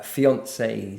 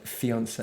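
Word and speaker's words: fiancé: each other as uh fiances. Mhm. So the man is a fiance, the woman is a fiance but with a double e. Yes. And the pronunciation I think is the same.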